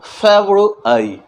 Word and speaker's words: February: मैंने एफ बोलना है ना, जब हमें एफ बोलना है तो हमें ये लिपसिंग जो है ये ध्यान देना होगा, हमारे दोनों लिप्स से कुछ एयर बाहर निकलनी चाहिए। एफ, एफ, इस तरह का प्रोनाउंसिएशन करेंगे तभी जाके हमारा फेब्रुअरी, फेब्रुअरी, ये प्रोनाउंसिएशन हमारा सही प्रोनाउंसिएशन होगा।